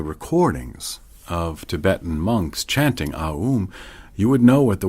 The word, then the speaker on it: AUM: A is called the fourelement syllable. Aoom.